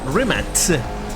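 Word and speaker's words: Rimac: joined with rimax and Remax uh it's a rematch that's how you pronounce It remix uh that's Croatian so yeah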